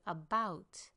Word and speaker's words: about: Let's look at the word about. two syllables. The first syllable is a shortened syllable. It's an unstressed syllable. So, we say about and lengthen the second one.